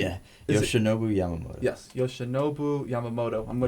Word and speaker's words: Yoshinobu Yamamoto: Yeah, Is Yoshinobu Yamamoto.